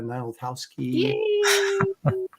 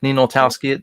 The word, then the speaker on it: Ninaltowski: for uh notowski give me the actual pronunciation of your last name I was trying to get too cute but our friends call us the so if you want to do like ninoltowski it'll fly yeah I was I was